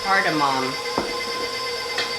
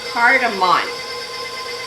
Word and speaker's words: cardamom: i've never worked with cardamom cardamom cardamon i've been saying it wrong that's okay so we're